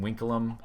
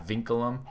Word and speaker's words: vinculum: Oh, if anyone has even noticed that I'm pronouncing Winkelum instead of Vinculum, it's because I took Latin in high school and you pronounce V's as W's.